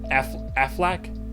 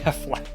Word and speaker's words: Affleck: has actually been at I always say his last name wrong Ben Affleck Aflac no no not Aflac Affleck it's Ben's lay latest